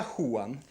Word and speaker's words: Juan: podobno tam w Hiszpanii jak jest napisane Juan to się czyta huan tak jest jak jest